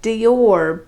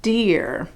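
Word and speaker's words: Deor: name is spelled d-e-o-r looks like dior but it's it's supposed to be pronounced deer perhaps to remind you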